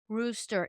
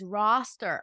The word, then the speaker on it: roster: Tessa, you usually go, no, honey, it's not rooster, it's roster.